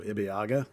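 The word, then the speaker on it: Ibeaga: lafc yes and and I actually looked up the pronunciation and I found it based on um uh when he signed with the Dynamo originally they were very specific so ibiaga looks correct I did see he's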